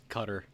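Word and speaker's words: Qatar: That's actually how it's pronounced. Candy. It's cutter.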